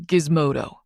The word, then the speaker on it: Gizmodo: The name Jace Gizmodo. Uh, G I Z M O D O or Gizmo for short with a hard G.